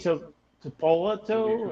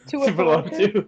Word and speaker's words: Tuipulotu: Okay, the Vikings select Tuli Tuipulotu. Is that how you say his name? I'm defensive line for USC. Close enough. Yeah. Tuipulotu?